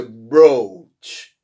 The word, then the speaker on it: brooch: E olha a pronúncia, brooch. Qual é a pronúncia desses dois O's aqui? Bro, ou, não é isso? Olha só, uma das coisas que eu comento desde o início do curso, para quem é meu aluno aí, sobre pronúncia, é a pronúncia dos dois O's.